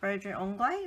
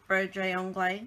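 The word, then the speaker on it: broderie anglaise: Had a little Brodre Anglais, that's how you say it, something like that, curtain on it.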